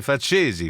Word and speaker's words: Facesi: Cesi, c'è l'accento sulla E, devi dire Facesi, faccia da coccodrillo.